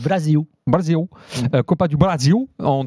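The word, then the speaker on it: Brasil: disent où Brésil en il disent pas Brésil, ils disent Brazil.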